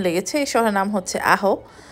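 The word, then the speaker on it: Ajo: এই শহরের নাম হচ্ছে আহো। তো এটার মানে উচ্চারণটা হচ্ছে এ জে ও, হ্যাঁ আমি যদি ভুল করে না থাকি। তো উচ্চার মানে স্পেলিংটা হচ্ছে এ জে ও, আর এটার উচ্চারণ হবে হচ্ছে আহো।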